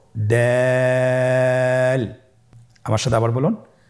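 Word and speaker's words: دال: এই হরফটি উচ্চারণ করার সময় আমরা অবশ্যই 3 আলিফ টেনে পড়ব। দাল, আমার সাথে আবার বলুন, দাল।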